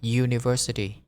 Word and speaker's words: university: Nhưng mà thật ra đôi lúc chữ U á, ví dụ từ university, nó phát âm ra là âm giờ. University. Giờ. U. University.